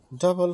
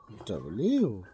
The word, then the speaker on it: W: ডাবল ইউ equal to ডাবল ইউ। ওকে, তো আজকের থেকে আর ডব্লু না, ডাবল ইউ।